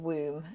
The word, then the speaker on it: Woom: It's spelled WOOM, Womb, and they're really beautiful like choral music.